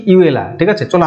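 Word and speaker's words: Iweala: নগজি ওকনজো হ্যাঁ কি ইউএলা ঠিক আছে চলো আমার মত আমাদের মতন ইন্ডিয়ান মতন উচ্চারণ করব ইয়েলা কারণ দেখো ওরা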